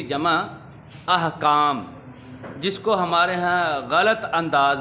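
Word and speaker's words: احکام: इहकाम गलत है, अहकाम दुरुस्त है। ये अलिफ के ऊपर ज़बर है, हे पर जज़्म है, अहकाम।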